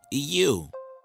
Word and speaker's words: ewe: Look, E-W-E and Y-O-U are two different words. They sound the same, but they do not mean the same thing.